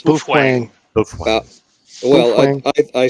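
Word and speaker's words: Baofeng: It's uh and we all say ba fang. Bofang. It's bofang.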